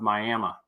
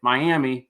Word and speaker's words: Miami: just south of uh the town of Miami or some of you as you might spell it or say it Miami but that's not how you say it okay so the chat